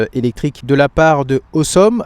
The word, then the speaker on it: Ausom: de la part de Awesome. Alors, ça s'écrit A U S o M, mais en fait, c'est un jeu de mot, ça veut dire awesome.